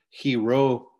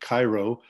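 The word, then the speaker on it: Chi Rho: ordered his army to paint crosses and letters Hiro or English they we pronounce it Cairo the first two Greek letters in the word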